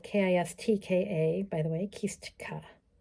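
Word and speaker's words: kistka: teardrop shape so we get our kiska which is spelled k-i-s-t-k-a by the way kistika it's a little bit hard for the english-speaking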